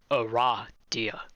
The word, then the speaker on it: Aradia: novels aren't canon so it is pronounced a raw deal that makes sense although